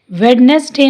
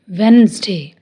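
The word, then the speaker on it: Wednesday: Handkerchief, वेडनेसडे नहीं, वेंसडे, वेंसडे।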